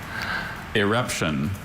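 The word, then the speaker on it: irruption: Eruption.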